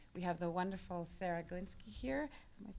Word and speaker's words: Glinski: what they do we have the wonderful sarah golinski here am i pronouncing it right yes it's perfect i've pronounced